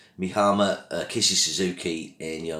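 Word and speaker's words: Mie Hama: probably not a surprise to fans this uh my least favorite bond girl is me hammer i think i should pronounce it mihama uh kisses suzuki in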